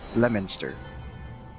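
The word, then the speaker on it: Leominster: On the east coast, there's a town called Leo Minister, but we pronounce it Lemonster, cuz that's the actual Well, there's also that town in Kentucky we call Louisville.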